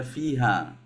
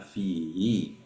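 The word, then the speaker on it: فيهِ: kecil ya Ustaz ya bukan tadi Pak Haji bacanya fiha yang benar adalah fihi Oh yang akhir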